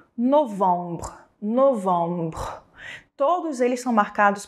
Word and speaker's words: novembre: Não é novembre de novembro. é “novãããmbre” aonde é o nasal arredondado.